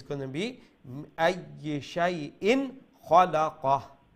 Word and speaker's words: أي شيء خلق: Without Ikhfa, meaning with Izhar, with clarity. Okay, so it's not going to be Shay'in, it's going to be Ay Shay'in Khalaqa. Ay Shay'in Khalaqa.